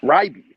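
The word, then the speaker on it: Reibe: And there's Eric Ribe, who was just on a visit here. Is that how you say his name, by the way? It's Ryby, Eric Ryby.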